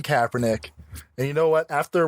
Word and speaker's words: Kaepernick: Can you say his name right? It's Colin Kaepernick.